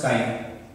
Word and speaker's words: chi: Symbol taken chi. This pronounces chi. But we write common way X as the symbol of mole fractions.